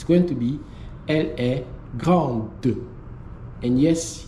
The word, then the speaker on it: grande: to be elle est grande. And yes, you're going to have that pronunciation that's going to be de.